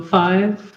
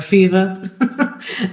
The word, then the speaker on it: Five: describe your character uh so five or fiva is to take both pronunciations she doesn't like correcting people so pretty much goes by five uh is a kind